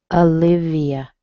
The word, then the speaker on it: Olivia: Olivia. Yeah, does that surprise you? It looks like it should be O, doesn't it? But it sounds like a schwa.